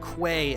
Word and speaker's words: Quay: Yeah, I definitely pronounced it as Quay as a kid, which I think technically is also a correct way, but it's more commonly referred to as Key.